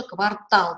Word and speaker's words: квартал: какая-то область в городе тоже квартал то всегда у нас ударение на последнем слоге что заз правильной носорог